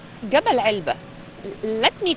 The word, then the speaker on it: Elba: We say it Elba because the locals say it Elba. They don't have ain in Arabic. Okay. Okay. So that the right one is Elba.